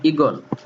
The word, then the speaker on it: ঈগল: নিচের উদাহরণ দেখাও, যেমন ঈগল, মূল শব্দটি লেখা আছে দীর্ঘ ইকার দিয়ে। মূল শব্দটি কি দিয়ে লেখা আছে? দীর্ঘ ইকার দিয়ে, কিন্তু উচ্চারণে দেখো এই দীর্ঘ ইকার আর উচ্চারণে নেই, সেখানে হয়ে গেছে হ্রস্ব ইকার।